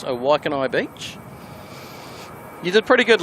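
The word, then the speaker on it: Waikanae: That is how you pronounce a Waikanai Beach.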